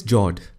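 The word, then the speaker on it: fjord: the next one is Jord the f word is silent when you pronounce it these are a long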